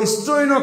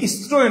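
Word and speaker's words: স্ত্রৈণ: ফাকি পুরোহিত বিপত্তিক ও স্ত্রৈন কাজী স্ত্রন এ উচ্চারণটা হবে স্ত্রৈন স্ত্রৈন কাজী কৃতদার জামাতা বিয়ে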